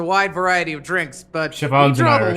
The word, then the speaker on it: Siobhan: Yeah, Siobhan. I have the whole day to spare. Ladies and gentlemen, welcome to Dream Jolt Hostelry. This bar offers a wide variety of drinks, but Siobhan's we draw an the Irish line name, at